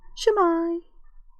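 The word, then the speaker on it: Sut mae: I don't mean waving with your hands like going, hello, Shemai. Shemai is Welsh for hi, how you doing? Hello, Shemai. Which is spelt Sitmay. Well, it's actually spelt Shemai as well.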